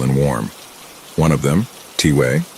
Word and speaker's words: Tway: One of them, Tway, pronounced T-way, is a medicine man in his 60s and was especially cool.